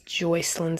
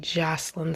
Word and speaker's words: Joycelyn: this situation oh god i did not pronounce her name correctly in the last video so i just wanted to correct that it is joycelyn savage not jocelyn savage um either way neither